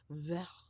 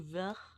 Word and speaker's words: vert: It's actually French. Because I saw Jenna's video this morning and I mispronounced it as Vert. It's Vert. Is it Vert? Vert. Green. In French.